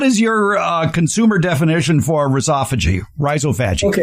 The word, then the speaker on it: rhizophagy: Uh but I pronounce it rhizophagy. I'm blunt. Google likes to say rhizova- I can't even say how Google says it. Rhizovagy or something.